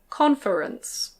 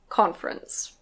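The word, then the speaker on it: conference: The next one can be pronounced "con-fe-rence". Con-fe-rence. But usually we say "con-frence". Con-frence. Again, the O is a little different in American English. In American English this is "con-frence".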